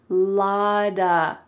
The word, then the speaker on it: lotta: It looks like it has a T, right? But instead, it sounds like a D, "lod-a."